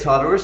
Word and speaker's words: Tartarus: I mean, I think it's Tartarus. I mean, maybe I pronounced it wrong.